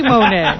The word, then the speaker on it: Monet: Monet? Actress? Forget about it. Monet. She's beautiful. Oy vey. Yeah. That rhymes with Oy vey, Monet. Oy vey, Monet.